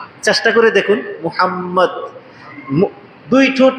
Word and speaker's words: মোহাম্মদ: চেষ্টা করে দেখুন মোহাম্মদ। দুই ঠুট না মিলায়ে আপনি পড়তে পারবেন? যেই নাম উচ্চারণ করতেই দুইটা ঠুট মিলে যায় সেই নামের